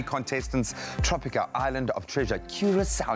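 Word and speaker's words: Curaçao: Tropica, Island of Treasure, Curacao. And you've got to say it like that. You've got to draw it out.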